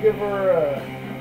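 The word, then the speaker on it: Gevurah: Across the board here, in Gevura, you know it's spelled Gevura, pronounce it Gevura, because reasons.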